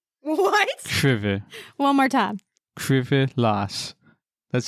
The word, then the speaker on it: Krzywy las: Krzywy las. What? Krzywy. One more time. Krzywy las. That's how they say it in Bless the you.